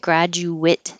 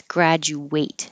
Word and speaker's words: graduate: So the it at the end, graduate, it's spelled ATE, but it will sound like it. If it's the verb, then it's graduate.